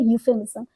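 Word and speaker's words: euphemism: pronounce कैसे होता है ये ई से स्टार्ट हो रहा र है पर हम बोलेंगे यूज बिकल क्योंकि इसमें ई साइलेंट है ये वर्ड होता है यूफेमिस्म ये वर्ड इंग्लिश लिटरेचर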